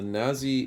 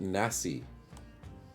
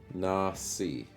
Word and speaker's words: Nasi: means fried rice though the Nazi or is it Nasi should I did I say it wrong I've always called it Nazi Goring but that might be incorrect it's Malay language Nasi oh so it's not with a zed it's with an S so it's Nasi Goring